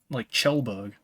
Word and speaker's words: Kjellberg: It would be ch. Like a CH sound. Because KJ is like Chelberg. It's spelled with a KJ.